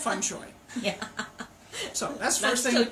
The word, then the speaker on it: feng shui: but my teacher said Fung shooey so I always say to my my clients or guests or whatever think bok choy that's fun joy yeah so that's pronunciation